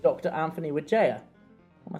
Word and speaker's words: Wijaya: through uh pilgrimage in Lords called Dr Anthony witha am I saying it right yeah absolutely thanks